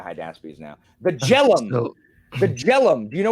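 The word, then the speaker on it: Jhelum: name of the high down speeds now the jellum the jellum do you know where the jelum river is um j h l j h e l u m jellum yeah I think it's somewhere in the North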